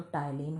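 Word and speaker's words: ptyalin: तो टाइलीन होता है। क्या होता है? टाइलीन होता है। टाइलीन की स्पेलिंग पी से शुरू होती है। ठीक? पी साइलेंट होता है।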